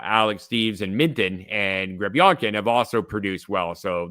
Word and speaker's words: Grebionkin: I think it's Nikita Grebionkin. Yeah, that's perfect. Yeah, that's Grebionkin.